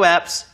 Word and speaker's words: apps: There are also radio apps you can download. 다운로드해서 일단 설치를 해야겠죠. 해볼게요. There are also radio apps you can download. P 발음 확실히 해주셔야 돼요. abs 하시면 복근이 됩니다.